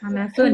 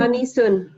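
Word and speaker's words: أنس: Anasun. Anisun. Anas. Anasun. Anas. Anasun. Itu Anasun Om ya bacanya, nama laki-laki.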